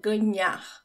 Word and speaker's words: ganhar: Pronunciation-wise, the NH in Portuguese is almost like NY in English, but subtle. It's subtle. Ganhar. So it's not the tip of my tongue that touches the roof of my mouth.